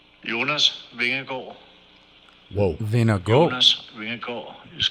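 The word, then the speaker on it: Jonas Vingegaard: was courteous enough to send us the real pronunciation jonas vehicle whoa then a goal is going [ __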